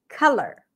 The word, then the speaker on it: color: Color. Collar. Color. Ca, as in father. Color. Cup sound.